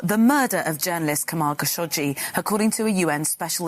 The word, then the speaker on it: Khashoggi: Official pronunciation. Jamal Khashoggi.